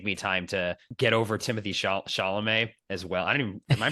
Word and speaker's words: Timothée Chalamet: It just, maybe it'll just take me time to get over Timothy Chalamet as well. Am I pronouncing his name correctly?